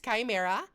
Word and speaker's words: CH1M3RAh: haven't learned it already, it's Chimera. That is with, and I know it looks stupid in this font, actually, because I'm now noticing that the one still looks like an I. My name is spelled instead of with an I, it's with a one. And instead of the uh E, it's with a three. And technically, the H is lowercase.